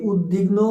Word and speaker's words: উদ্বিগ্ন: যে উদ্বিগ্ন উদ্বেল উদ্বাস্তু উদ্বাহু এগুলো বেলায় আমরা ভুল করে উচ্চারণ করি সেটি ঠিক নয় এই উদ্বিগ্নও নয় উদ্বেলও নয় উদ্দাসতুও নয় উদ্দাবাহুও নয় এটি